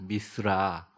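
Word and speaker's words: מִשְׂרָה: 이제 히브리 말로 발음을 이렇게 하면 저를 따라해 보세요. 미스라.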